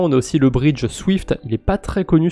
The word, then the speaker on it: SWFT: Accessoirement on a aussi le bridge Swift, il est pas très connu celui-là, enfin je prononce Swift parce que c'est plus pratique mais ça s'écrit SWFT, il n'y a pas de I.